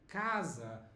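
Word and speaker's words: casa: the letters for example the word house is written with C which is Kaza which is the same sound of K and I don't know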